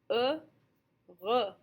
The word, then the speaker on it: heureux: Remember, we don't say our H at the very beginning, so we essentially have two sounds, just split up by that French R. Heureux.